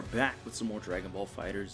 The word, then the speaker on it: FighterZ: and we are back with some more Dragonball fighters Z I know it's pronounced fighters I'm keep saying fighters e fudge you got anyway um so we finally